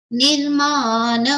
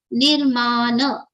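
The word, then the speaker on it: निर्मान: prasrita purani next look nirmana moharjita sanga dosha nirmana na should be complete again not half not nirman it should be nirmana nirmana moha Jita sanga,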